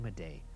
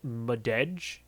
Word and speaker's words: Madej: I believe that's pronounced Shane Madej. I don't know why he didn't pronounce the last letter there.